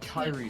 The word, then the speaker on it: Kyrie: How do you pronounce the name again? Kyrie.